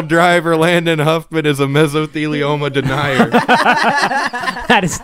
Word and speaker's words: mesothelioma: clarify this I am a firm believer that mesothelioma is a real thing say that again mesothelioma mesothelioma that's how you say it right yeah